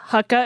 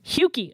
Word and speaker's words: Hucke: Iowa Association of Naturalists, Heather Hucka, is that how you pronounce her last name? Hucke. Oh, okay. Not even close.